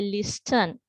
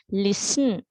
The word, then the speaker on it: listen: Sometimes I have heard some say listen, soften, often, but that is incorrect, right? අපි එහෙම නෙවෙයි කියවන්නේ. අපි කියවන්නේ listen.